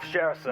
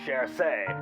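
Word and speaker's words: Saoirse: in this stupid video instead of shersa i say cher say instead of aisling i say ashley instead of parvana i say parwana so i'm really sorry i'm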